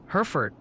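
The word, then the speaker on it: Hereford: They're adamant it's pronounced herfort county like the cattle.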